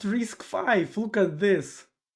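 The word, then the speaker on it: RISC-V: Oh, pronounced risk five.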